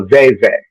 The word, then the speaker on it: veve: nope cornmeal and it's called a veve two syllables but it can be